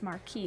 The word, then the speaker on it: Marchi: But like Marky Mark, but it's Marquis because it's Italian.